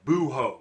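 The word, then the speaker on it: búho: Legs the owl el buho the H is silent or maybe I just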